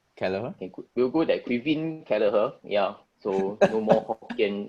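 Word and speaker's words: Caoimhín Kelleher: if i'm not wrong keller will go there quivin keller here yeah so no more pronunciation i think it's actually not a bad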